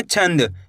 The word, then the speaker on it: छंद: कैसे पढ़ेंगे, छंद, छनदनी छंद।